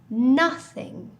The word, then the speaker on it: nothing: nobody and things nothing now you may have noticed something interesting about my pronunciation nowhere no one nobody all use no as their beginning of the word in contrast nothing has a different sound ah nothing so for all of these